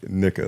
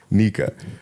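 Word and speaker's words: Nicka: Like, it's not Nika. Like, it's Nika. Yeah. And it's clear, like, if you say her full regular name, like Dominica, like, that makes sense. Yeah. So, yeah, we pronounce it Nika, but he said Nika.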